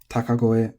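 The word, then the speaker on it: 高声: The native Japanese reading is takagoe or takagoe. Either is acceptable.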